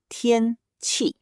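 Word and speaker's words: 天气: The first word is tiānqì, pronounced tiānqì, which means weather.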